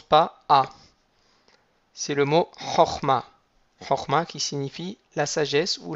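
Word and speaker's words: חָכְמָה: et le à l'accord donc on dirait un format il ya un principe qui est important aussi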